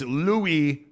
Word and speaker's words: Louis: pronounced correctly okay it's Louis okay as in Louis Vuitton okay so Louis not Luis okay Louis